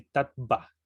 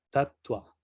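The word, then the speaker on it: tattva: Si lo pronunciaríamos así como se lee en español, pronunciaríamos así tatva, pero no se pronuncia así, sino que la B se pronuncia con un ligero tono de U, tatua, ¿no?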